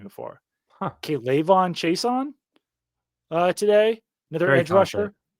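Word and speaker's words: Chaisson: Kon Chason how's that how's the last name pronounced Chason Chason yeah Kayon Kayon Chason so that's my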